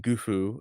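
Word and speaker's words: Gouf: Here it is, Goof Day. Ah. So goof is pronounced gufu in Japanese, which Oh.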